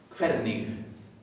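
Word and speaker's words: hvernig: Quernig. Se pronuncia la G final, suavecita. Suavecita. Sí. Y recuerden que la HV se pronuncia como una KF.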